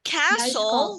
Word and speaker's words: castle: Então, the castle, vamos lá. The castle é a palavra para castelo. Atenção, não pronunciem esse T, pelo amor de Deus, tá? É the castle.